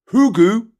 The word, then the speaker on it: hygge: concept of hugu higgy I say higgy but it's hugu say it right gram the concept of